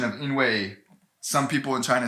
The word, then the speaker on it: 因为: way the pronunciation of inway some people are trying to say it slightly differently i guess i think the most correct or the most dictionary is like this in way fourth tone weight but some people